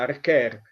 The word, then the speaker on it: Arquer: Archer vuol dire arciere, si scrive Arquer ma si pronuncia Archer, ed è un sagittario che lancia una freccia.